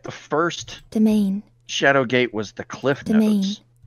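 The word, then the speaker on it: demesne: disc that's true okay it's pronounced domain or day main not domain domain uh land attached to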